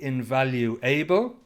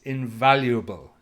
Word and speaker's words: invaluable: It's tricky to pronounce don't say invaluable it's invaluable invaluable ible at the end and if something's